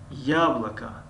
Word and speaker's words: яблоко: дар ин ҷо ду ҳарфи о а хонда мешаванд ва аломати задан ё ударение гӯем дар ҳарфи я аст. яблоко, яблоко, яблоко, яблоко яъне себ.